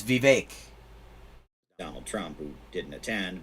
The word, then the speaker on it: Vivek: I wonder if he's ever going to pronounce the name right. It's Vivek.